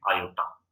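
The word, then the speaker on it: iota: ये देखिए मैंने नीचे साइड पे भी लिखा भी हुआ है कि आई किसके इक्वल होता है, इसको प्रोनाउंस कैसे करते हैं, आयोटा।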